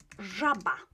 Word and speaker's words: żaba: So, żaba, frog, żaba, żaba, żaba. Życie, life, życie. Always pronounced in this way, right?